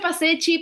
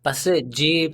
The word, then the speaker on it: Passeggi: Se pronuncia Pasecci, Pasecci, Just. Passeggi es italianísimo, Passeggi, pero Pasecci. está bien.